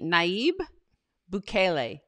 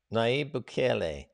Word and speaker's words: Nayib Bukele: One thing the president says, how do you pronounce his name again? It is, let's see, Nayib Bukele. Bukele. Nayib Bukele.